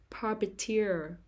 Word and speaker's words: puppeteer: the first syllable songwriter perpeteer perpeter the stress is on the third syllable puppeteer perpetual academic academic the stress